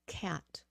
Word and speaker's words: cat: this what is this it is not a gat yeah it's a cat cat cat like k h like K cat cat Okay cat it has to have that k sound in there okay C cat cat